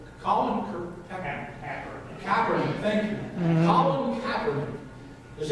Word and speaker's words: Kaepernick: Colin Kaepernick, thank you.